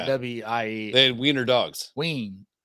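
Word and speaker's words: Wein: Ween. W-E-I-N, like we, me and my wife.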